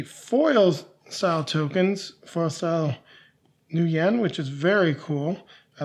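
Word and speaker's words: nuyen: We've got our tokens with the yen or wen. Sorry, the new yen. That's what it is pronounced. I always get that confused.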